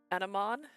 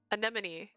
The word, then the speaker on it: anemone: the love of a flower of Love An animon animon I saying right I think I Googled